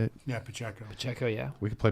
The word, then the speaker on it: Pacheco: Yeah, Pacheco.